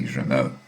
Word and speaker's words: Germain: I know that in Russian her name is pronounced Sophie Germain, and from what I can understand here, in French we shouldn't pronounce the final N, Sophie Germain.